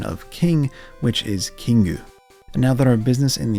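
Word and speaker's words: キング: Magikarp is known as Koi Kingu in Japanese, which obviously comes from the koi fish and the Japanese pronunciation of king, which is Kingu.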